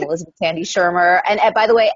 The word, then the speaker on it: Shermer: academic name, Elizabeth Tandy Shermer. And by the way, everyone gets the pronunciation wrong. It's spelled funny. There's no C. There's no I. It confuses folks.